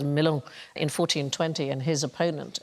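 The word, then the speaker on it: Melun: Henry V fought hand-to-hand in a tunnel during the siege, I think it's pronounced Milon, in 1420, and his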